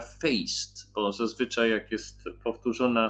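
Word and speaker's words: feest: Impreza jest śmieszne słowo, jest F-E-E-S-T i to się czyta feist, bo zazwyczaj jak jest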